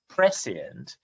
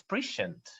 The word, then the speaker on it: prescient: uh yeah pres so i pronounced it as prescient and a couple of um participants in the audience said no leo it's prescient so feel free to